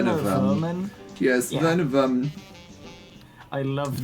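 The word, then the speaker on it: Werman: love Ming w a Worman I I love W Worman I hate to be a man with Worman well actually I think it's pronounced ver ver verman yes ver verman I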